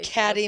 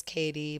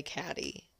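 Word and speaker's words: Caty: Catty Manning. Yes, you will be one day. When you guys meet, we call her Catty. Her name's Katie, but it's really Catty. Because it's spelled C-A-T-Y, so it's catty.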